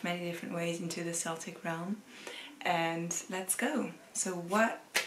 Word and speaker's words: Celtic: I can pronounce it Celtic, because it used to be pronounced Celtic with an S. And if you want to pronounce it with a K, that's also correct.